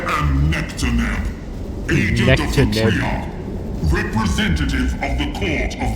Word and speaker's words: Triarch: He who should have the honor of receiving the Triarch's command. I hate how they say it. They say Triarchs. I say Triarch because it's Tri-Arch.